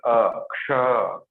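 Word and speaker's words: क्ष: Ka and Sha plus Ksha. Isn't it? It is not Ksha. Ksha means Talu. It's not Talu. It's Murda. Ksha. Kshatriya. Kshetra. Kshanik. Kshamata. Okay? It's not Aksha.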